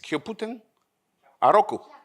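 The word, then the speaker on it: キャプテンハーロック: How do you say in Japan? The name is Kyoputen. Kyoputen. Huh? It's Kyoputen Aroku. Kyoputen Aroku. Okay, in Italian it's Capitan Harlock, but anyway.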